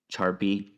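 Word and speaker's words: Charpy: the way it's spelled I believe it's just pronounced Sharpie like the Sharpie pen but they spell it with a CH and people get like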